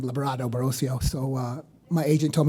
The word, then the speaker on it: Librado Barocio: Uh, and the reason why it's Labrado is I uh it's very hard to say my name, Labrado Barrosio.